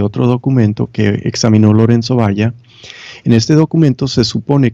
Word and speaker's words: Valla: En italiano se dice Lorenzo Valla, pero supongo en español es Valla porque es con L de caballo.